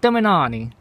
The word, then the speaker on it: Termignoni: But the reason why I got this exhaust is because, you know, this the Termignoni, that's how you say it, Termignoni.